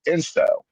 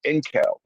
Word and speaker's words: incel: It will pronounce it as inkel. And so Yeah, you'll hear yeah. a lot of these videos with text to speech, and it will say inkel when the word is incel.